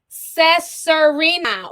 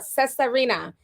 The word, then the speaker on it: Cesarina: Pronounce Cesarina. Ooh, okay. That's pretty. I wouldn't have thought it was pronounced like that, the way it's spelled. Cesarina.